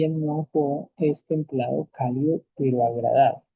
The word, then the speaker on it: 暖和: hablando de Tianqi, tenemos Nuanjo y Lianhua. Ven que aquí la segunda sílaba, el segundo pinyin, ya no tiene ningún tono. ¿Sí ven? El primero sí, Nuanjo.